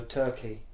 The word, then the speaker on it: Turchi: So originally I had a WBC international title fight in Italy against a lad called Fabio Turchi. It looks like Turchi but it's pronounced Turkey, Italian kid.